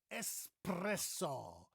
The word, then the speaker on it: espresso: I am ready to have my cup of espresso. Espresso. It's not espresso. Many people think it's espresso because they think of the word express.